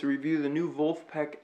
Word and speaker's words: Vulfpeck: oh yeah this is and you guessed it it's a review the new volt Peck album mr. finish line the phonetic spelling of the German pronunciation of Wolfpack and if you haven't